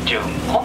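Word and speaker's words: 筍根: タケノコの根と書いて、純根と言います。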